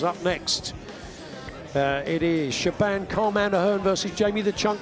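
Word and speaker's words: Siobhan: pronounce her first name is it sheban no is it shioon no is it Shaban I'm not even sure of course it is Shaban the cand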